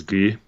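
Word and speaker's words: Gueye: do you say his last name that is ghee ghee yeah I'm gonna take him Washington State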